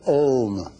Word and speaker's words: Om: anyone understands the syllable Om, he understands whole universe. He understands everything. A represents A-U-M. A represents waking state. U, dreaming state. M, sleeping state. But there is one silent part of Om that leads you to